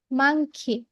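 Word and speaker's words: monkey: এম ফর মাংকি। আমরা এটাকে মানকি উচ্চারণ করব না, হ্যাঁ মানকি বলবো না, এম ফর মাংকি।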